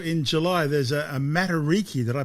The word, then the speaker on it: Matariki: Also in July there's a a materiki. Did I pronounce that right?